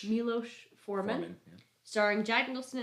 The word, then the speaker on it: Milos: Milos Forman.